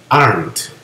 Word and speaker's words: aren't: not nos forma isn't Are Not nos forma aren't Okay el Are Not nos va a formar aren no pronunciamos la e al final no decimos ar decimos aren muy bien aquí tenemos